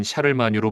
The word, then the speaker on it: 샤를마뉴: 프랑스어 마녀의 칭호를 얻었으며 일반적으로 라틴어 발음인 카를로스 마그누스 또는 프랑스어 발음인 샤를마뉴 불리고 있습니다 이상으로 샤를마뉴 기병대의 서유럽